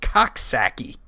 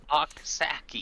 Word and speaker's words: Coxsackie: upstate New York, and I have to be careful how I pronounce this because it's called Coxsackie. Oh yeah, that's a good one. Coxsackie.